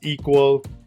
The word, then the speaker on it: EQL: of the sudo code equl pronounce as equal and it's an acronym for event query language event query can